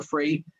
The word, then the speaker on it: Fried: and my last name is spelled free fried but it's pronounced free then I'm fried